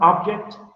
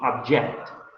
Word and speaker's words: object: The difference is in the stress. In this one, the stress is in the first one, object, and the second one will be object.